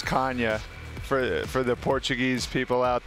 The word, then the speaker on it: Canha: They know how to say it, but I'm like third generation American, so we've been saying Canha for the longest time, so it would feel a little bit like pretentious to go by Canha at this point.